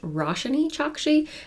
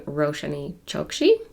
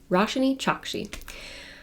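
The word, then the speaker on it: Roshani Chokshi: I'm glad I looked it up because it's pronounced rash chaki and I think I was saying rosan Choi so rash chaki uh so the last tale of the flower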